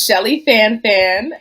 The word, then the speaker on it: Schellie Fanfan: that oh boy uh again my name is Shelly fanfan and it actually is pronounced Shelly F I am a first generation